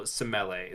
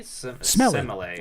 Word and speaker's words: Semele: He was conceived by Zeus and the mortal Semele. Smelly. Semele. I know it's pronounced smelly.